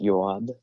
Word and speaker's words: Job: Well, my name is Job. It's pronounced Yoab. It's a weird name. My grandmother named me. Uh, it's a Hebrew name.